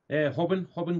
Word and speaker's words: Robin: Robin Gracie's gym. Bless you. Robin Gracie. It's Helio's son. Hobson. You've got to call him Hobbin, haven't you? Because everything's with a H.